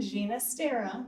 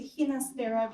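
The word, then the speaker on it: Ginastera: he preferred the pronunciation gina stera not saying it wrong he preferred it to hinastera because of his castilian italian background so that's something i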